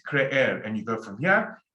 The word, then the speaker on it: creer: Creer. Creer. Pronounce both E's. Creer.